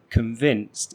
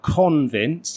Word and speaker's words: convinced: actually stressed, like in convinced. It's not convinced, it's convinced. Convinced. So we're using that schwa sound at the beginning to reduce the first syllable.